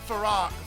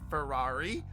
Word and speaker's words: Farrar: It's Farrar. Farrar. I've been saying it wrong. Ferrari.